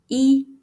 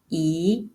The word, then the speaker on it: 一: It has three different pronunciations, 一, 宜, and 意. This change is called tone change. It helps make words easier to say and easier to tell apart.